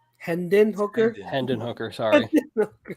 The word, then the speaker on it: Hendon Hooker: it's all white somewhere number four give me Hayden hooker hendin hooker Hendon hooker sorry how do you spell Hayden I want